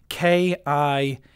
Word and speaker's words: Kipulu: The avatar's name is called a Kipulu, spelt K-I-P-U-L-U-U, I think. Kipulu. Yeah, that's how it's spelt.